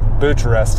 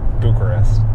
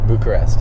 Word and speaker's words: Bucharest: opened it and it's it said romania butcher butcherus is how i pronounced it and i was like butcherist and my dad's like no it's bucharest bucharest okay so romania bucharest mission that's crazy so